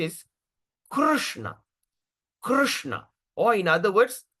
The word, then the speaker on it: Krishna: The proper pronunci is Krishna. Krishna or in other words we pronounce we just break the word. We break the word like this. So how we going to pronounce Krishna C?